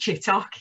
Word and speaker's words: Chittock: your name is vicky chittick i think you're on a is it tutorial how do you pronounce it it's pronounced chit talk yet you talk okay